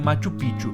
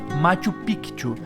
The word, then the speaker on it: Machu Picchu: para de fato construí Machu pichu ou melhor Machu picu que é a pronúncia correta sem dúvidas a parte